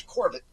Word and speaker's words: Corbett: You pronounce my name like I'm French when in effect I'm Irish and German. So it's Corbett.